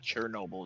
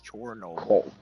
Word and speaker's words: Chornobyl: Yeah, it's not Chernobyl. It's Chornobyl. Cornobile. The Ukraine pronunciation, not the Russian.